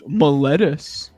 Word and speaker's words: Miletus: it's pronounced Miletus.